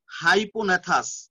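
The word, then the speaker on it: hypognathous: এবং এই প্রকার মস্তককে হাইপোনেথাস, HYPOZNATHUS, দেখো আমি লিখে দিয়েছি হাইপোনেথাস, জি থাকবে কিন্তু উচ্চারণ হবে না, এই প্রকার মস্তককে হাইপোনেথাস মস্তক বলে।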